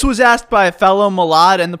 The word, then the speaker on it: Milad: People have called me Mulan, they've called me Milan, people call me Milad, people call me my lad. I've even had people call me Millard. But listen, any way that you pronounce my name, I kinda like it.